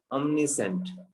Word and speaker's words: omniscient: अब जो मैं इसको प्रोनाउंसिएशन कर रहा हूँ उसको ध्यान से सुनना। omniscient, omniscient, ठीक है?